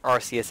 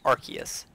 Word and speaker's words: Arceus: Like someone pronouncing Arceus as Arceus. That frustrates me, yes, because it's quite clearly a C.